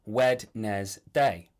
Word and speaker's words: Wednesday: Like, Wednesday is spelt Wed-nes-day, but everyone says Wednesday, like they don't know what day they're talking about.